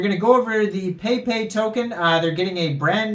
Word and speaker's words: PEIPEI: Today we're going over the Peipei token. Now this is like Pepe, but it is spelled P-E-I-P-E-I.